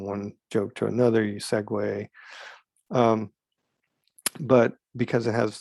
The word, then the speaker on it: segue: like sequel sequence and segway that's how you pronounce that word segue like you know segue from one part of a play act one to act two or in a joke from one joke to another you segway um but because it has the word non